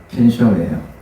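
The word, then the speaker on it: 見性: 켄쇼가 뭐냐면 견성을 일본말로 발음하면 켄쇼예요.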